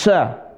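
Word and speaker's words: ش: Kalau yang ini sya tengah lisan ketemu langit-langit. Sya tengah lisan ini anggap lisan ini ujungnya ini tengahnya ketemu langit-langit sya.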